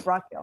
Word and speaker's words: Brock Gill: But it's on his YouTube channel, Moto Mission with Brock Gill. Oh wait, did I say it wrong again? Yeah. Yep. You I said got it it. right. Okay, Yeah. Brock Gill.